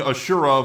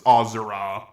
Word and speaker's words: Asura: who I've been calling ashur for the longest time but after replaying the game yeah it's actually pronounced ozer ozer is from the